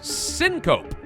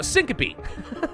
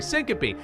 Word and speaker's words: syncope: so cheap great bargains cinco uh syncope i'm sorry syncope i forget that it's pronounced that way with the e temporary loss of consciousness